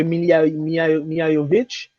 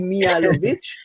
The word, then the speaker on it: Mihailovic: On peut pas se le cacher parce que l'arrivée de Mihajovic, excuse-moi si je le prononce, c'est Djordje Mihailovic.